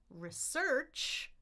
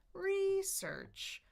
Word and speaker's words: research: So when I stress one syllable or the other, that's often the case. I can say research, research, research, or I can say research, research. Sometimes it's about choice, sometimes it's about the word form, but just know, okay,